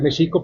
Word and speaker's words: México: que mxico digo mxico porque hay que recordar que en el nahuat las palabras son graves y se acentúan en la penúltima sílaba E eso es algo polémico porque hoy en día incluso los nagu hablantes suelen decir México no Mexico yo sostengo que debería ser Mexico pero ahí lo dejamos